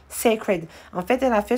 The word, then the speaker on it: Cécred: prononciation est très simple ça se prononce comme c'est écrit sacred en fait elle a